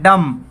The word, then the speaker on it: dumb: आगे देखिए DUMB, और इसको बोला जाता है डम। डम डम होता है गूंगा, इसको डम्ब नहीं बोला जाता, यहाँ पे बी साइलेंट होता है।